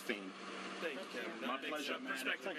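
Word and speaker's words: Phayme: First name, last name Fame. P H A Y M E. Pronounced Fame.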